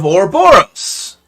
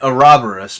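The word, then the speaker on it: Ouroboros: the first mention of orboros and yes I'm pronouncing it this way because the game pronounces it this way I know that you prefer it a robberists but like again it's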